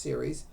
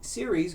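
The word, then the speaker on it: Ceres: name is series c-e-r-e-s I guess it's pronounced series she stays by her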